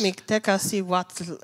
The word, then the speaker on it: Mictecacihuatl: But I'm going to ask Eva to pronounce it, because it is, because it's not even Spanish. It's Mictecacihuatl. It's Nahuatl, which is the one of the indigenous languages from Mexico.